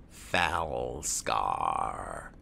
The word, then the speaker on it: Falskaar: thing that I've noticed about foul scar as I've been told it's pronounced they don't seem to